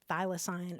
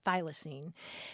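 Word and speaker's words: thylacine: y l a c i n e it's pronounced phocine or thyine and it's this striking looking animal you can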